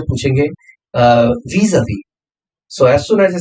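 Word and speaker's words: vis-à-vis: इसका pronunciation होता है vis-a-vis.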